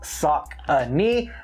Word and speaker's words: Saucony: It is pronounced Saucony for the Saucony River that is out in Pennsylvania.